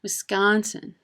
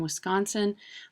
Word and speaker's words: Wisconsin: is pronounced W Wisconsin another thing you can do wrong is you can emphasize that second syllable Wisconsin well if we hear